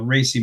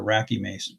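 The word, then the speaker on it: RACI: Uh this is where you've got things like a a racy matrix or racky matrix depends on how you want to pronounce it.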